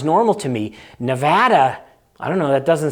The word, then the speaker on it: Nevada: you a couple examples I got yelled at by one of our viewers for pronouncing Nevada wrong because if you apparently live in Nevada it's never Nevada who knows I don't know Nevada Nevada in New England where I'm from we say Nevada so that just sounds